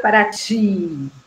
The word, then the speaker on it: Paraty: eu vou a Paraty Ai eu adoro Paraty TIM é a sílaba tônica é uma palavra oxítona tem acento não não